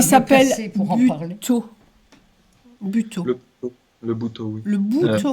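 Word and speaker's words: butoh: Oui, Buto ou Buto, on peut dire les deux, je pense. Je dis Buto parce que je l'ai découverte en particulier avec des Japonais. Et ils le prononcent de cette façon.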